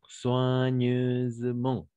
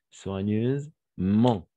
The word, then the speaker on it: soigneusement: La combinaison des voyelles O et I, on va prononcer comme un wa. D'accord? Wa. La combinaison de consonnes G avec N, on va prononcer comme un N. D'accord? Toujours. Et donc, soigneuse, avec le Z, parce que le S se trouve entre deux voyelles.